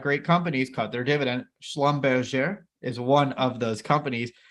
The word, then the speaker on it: Schlumberger: YouTube the YouTube Community I know how to pronounce this company's name correctly so it's not Schlumberger Schlumberger I'm kidding I probably botched it but I thought I got that one pretty well there ticker symbol S L